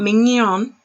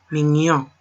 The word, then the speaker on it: mignon: Not mignon, not mignon, mignon.